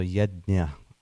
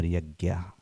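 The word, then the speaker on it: yajña: So ynya or yagya whichever way you pronounce yagya is the prescribed duties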